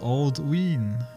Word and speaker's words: Alduin: Alduin is pronounced Aldwin because of the long vowel sound on the YMCA.